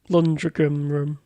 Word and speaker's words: Lundgren: Lundgren. Good pronunciation, mate.